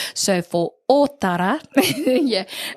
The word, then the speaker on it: Ōtara: You tell me, Ōtara. Ōtara. Hey. There we go. Hey. So remembering that Ōtara has on the O, there is a macron or tohu tō.